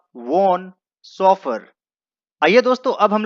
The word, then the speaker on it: Vaughan: का नाम है माइकल वोन, लेकिन उसका स्पेलिंग आप देखें कि वोन का स्पेलिंग किस तरीके से है, VAUGHAN। इसे कोई भी वॉगन पढ़ सकता है, लेकिन दोस्तों इसे वॉन पढ़ते हैं, माइकल वॉन।